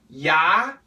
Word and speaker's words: you: got the word you you has how many pronunciations three if you're a DDM student you know know I talk about this every month so these are things that you know at this point you we can say you we can say yah and we can say Y which is the most common y so as you can